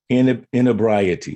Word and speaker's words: inebriety: So the word that I have a problem with is, and it's pronounced inebriety. Sometimes people say inebrities, but I've listened to the pronunciation inebrieties or inebrities or inebriety.